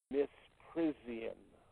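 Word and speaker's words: misprision: they are committing according to the cell is pronounced in our language miss prision m-i-s-c-r-s-i-o-n this is how one spells that always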